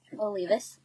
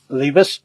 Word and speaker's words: Olivas: Olivas. It's a Spanish name. Olivas.